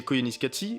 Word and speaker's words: Koyaanisqatsi: Koyaanisqatsi, prononcé Koyaanisqatsi, est donc un film qui, pour commencer, est